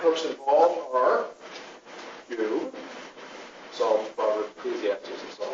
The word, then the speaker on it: Job: First of all, let's start with the book of Job. Get your Bibles with you tonight. We open up to Job. The correct pronunciation is Job, not Job.